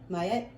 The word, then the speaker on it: Ma'at: Ma'at, pronounced Mayet, is an ancient Egyptian deity associated with truth, harmony, and balance.